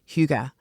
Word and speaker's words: hygge: And they embrace huga. That's the right pronunciation.